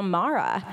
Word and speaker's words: Mara: Because it rhymes with my name. Yeah, there you go. So I always tell people, oh yeah, it's Mara like capybara.